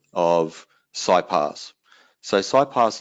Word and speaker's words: SiPass: of psy Pass so sigh pass is a name given to the product by Siemens and being German they pronounce their asses as C's so you're going to hear a lot of people when they talk about slow pass we'll call it C pass and Allah less